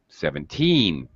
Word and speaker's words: seventeen: all right you you need to very strongly emphasize the last syllable teen 17.